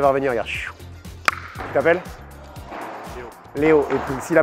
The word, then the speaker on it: Léo: L-E-O. L-E-O, donc ça se prononce. Léo.